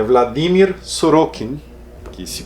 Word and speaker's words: Sorókin: Britney que o Yuri me ensinou é Vladimir suruken que se pronuncia Será que foi publicado pela 34 recente